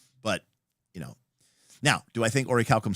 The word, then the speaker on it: orichalcum: I'll take my orichalcum. Boothby prefers my pronunciation. That's why I like Boothby. I want to say, I think when we were young, before we looked it up, we called it oraculum.